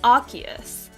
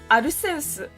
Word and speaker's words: Arceus: well that's the thing the english pronunciation is arceus but in japanese where pokemon comes from it's aruse so i'm so torn